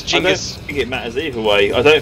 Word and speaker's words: Genghis: leaf for now really I grew up learning it was Genghis yep no we're wrong it's Jamis it Massey who was